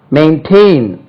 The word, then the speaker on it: maintain: Maintain, பராமரி, காப்பாற்று, maintain பண்றது, maintenance வந்து noun. maintain, second syllable தான் stress பண்ணும். maintain, M-A, main, M-A, maintain, M-A-I-N, tain, T-A-I-N, maintain, stress lies on the second syllable.